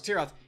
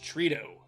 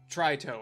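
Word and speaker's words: Tritoh: Ross's name last week it's not as if Ross Tirith it's Zeff Ross Trudeau or tryto or something like that all right let's save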